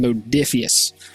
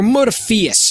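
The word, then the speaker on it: Modiphius: role playing game from modius or modaus if you want to pronounce it incorrectly which means that the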